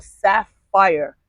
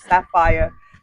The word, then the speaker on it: SAAFYR: The shout out is for Sapphire.